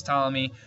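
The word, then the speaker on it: Ptolemy: Now, Claudius Stalamy, and I know there's a P there, but you don't pronounce the P. It's silent. Claudius Tommy was the most famous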